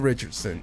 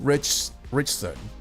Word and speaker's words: Ritchson: Somebody corrected me the other I was like, "Oh my god, I've been pronouncing his last name all wrong all this time. All this time." So, Alan Richson Rich, I cannot freaking say English, Do you speak it?